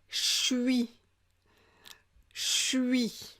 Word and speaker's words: je suis: qu'est-ce qu'on a d'autres je suis je suis on va prononcer shoei shoei d'accord voilà c'est pas